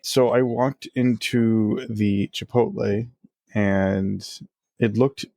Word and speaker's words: Chipotle: And then the one word that kills me is when everyone says Chipoti and that's what I just said. Chipotle chipot. The L the L comes after not before.